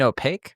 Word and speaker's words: opaque: You mean opaque? Sorry, opaque.